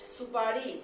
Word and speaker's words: सुपारी: ठीक है, नेक्स्ट सुपारी, स जोड़ छोटा ऊ जोड़ पा जोड़ री। ठीक है, इसमें थोड़ा सा खींचना पड़ेगा उच्चारण करते समय। र में बड़ी की मात्रा है तो हमें उच्चारण करते समय थोड़ा खींचना होगा।